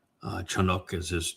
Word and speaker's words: Enoch: And Enoch uh Chanuk as his name is properly pronounced learned about Yahwa from Adam who was